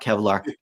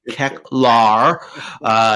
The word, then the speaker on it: Keclar: And with regards to Eternia, look, we didn't get Keclar, not Kevlar, Keclar. Say it right.